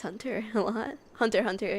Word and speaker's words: Hunter x Hunter: x Hunter a lot Hunter Hunter you know I mean listen every every person pronounces the X I know so you're not supposed to but still I'll uh